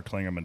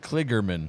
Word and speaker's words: Kligerman: Tyler Reddick slowed down way more than Parker Klingerman did, and Ryan Newman did not pile drive him in the ass. Klingerman. So when they went into 3, how do you say his name? Kligerman. There's no Klingerman.